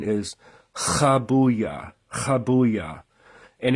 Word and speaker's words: Habuiah: the proper pronunciation is kabuya kabuya and if you have trouble doing that you can just pronounce it like the letter H habuya um now Johan royin